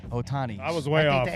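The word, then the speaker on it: Ohtani: do you say his name Shai Otani Shai hotani Otani Otani I was way off the H of Silent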